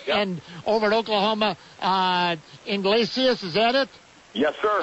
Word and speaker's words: Iglesias: Okay, and Georgia's Mohamed Mascoy, is that how you pronounce it? Mascoy, yeah, right? Yeah. And over at Oklahoma, Iglesias, is that it?